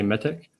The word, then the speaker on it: Mitiq: everyone for joining we we accept all pronunciations i guess uh i say mythic uh so this is